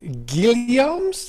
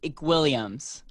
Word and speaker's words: Guilliams: to our guest our guest today is caleb gilliams am i pronouncing that right close it's williams you will greenlee williams yes i'll take that